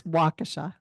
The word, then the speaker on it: Waukesha: How do we pronounce this? Is it Waukesha? It's Waukesha. Waukesha.